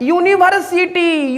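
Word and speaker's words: university: यूनिवर्सिटी। यूनिवर्सिटी यू हमारा है क्या? वोवेल। यूनिवर्सिटी तोएशन में जो फर्स्ट साउंड आ रहा है वो हमारा य आ रहा है।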